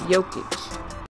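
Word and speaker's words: Jokić: All right, that's how you say it, Jokic.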